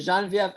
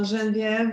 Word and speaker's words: Geneviève: But Geneviève, enough about Paris.